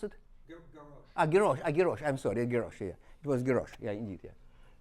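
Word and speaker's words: Geroch: How pronounce it? Garrosh.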